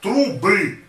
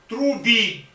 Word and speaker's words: трубы: The Georgian will say unitazi, trubi, unitazi. That sounds, for Russian, that sounds very funny. So if you don't want to provoke a smile, better to speak, to try to speak it in Russian way.